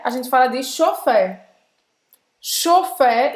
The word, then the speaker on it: chauffeur: Então, nesse final você vai fazer a boca do O e vai falar E.